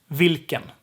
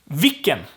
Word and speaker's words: vilken: The L gets dropped here. So we have vilken, because the I is short. The I is short, right? The syllable needs to be long. So if L gets dropped, the K has to be extended. So it's vilken. Vilken. It's a long K.